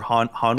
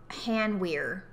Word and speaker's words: Hanweir: How do you say the W-E-I-R? Where or weir? Weir. I would say weir. Weir. I would say weir. But... Oh, sort of like weird, but without the D.